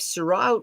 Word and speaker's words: Sirois: If Surratt wins the case, his name is spelled Sirois, by the way, wins this case,